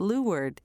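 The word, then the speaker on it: leeward: wind is coming from and Lee word which is sometimes pronounced Lu word is the downwind side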